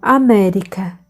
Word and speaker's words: América: Rio Eu me chamo América a pronúncia da Alemanha tinha o som de dois erres o neuzelandês achou engraçada